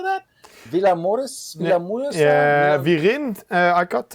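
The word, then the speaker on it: Vilamoura: La Mora for how do you say that Villa Morris yeah we didn't I got I got here the ring ha with in ha ha yes Villa Mora x3b to Joe's 16th in Oro Seventeen's max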